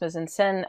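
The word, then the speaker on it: mise-en-scène: All right, today we are talking about mise-en-scene. Sometimes people say mise-en-scene. It's pronounced mise-en-scene, but either way works. It doesn't really matter.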